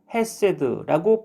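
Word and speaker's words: חֶסֶד: 인자하심 곧 히브리어로 헤세드라고 발음하는데요.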